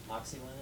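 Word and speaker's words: Moxyland: Now, let's see, the first two books, Zoo City and Moxieland, am I pronouncing it correctly? Yes. Moxieland, okay.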